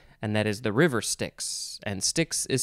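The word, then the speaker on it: Styx: over the sticks and that is the river sticks and stixx is spelled s-t-y-x and there's a band called stix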